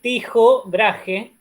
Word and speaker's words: Tycho Brahe: Y acá sí, conoce al danés, se pronuncia así, Tycho Brahe, se escribe Tycho Brahe.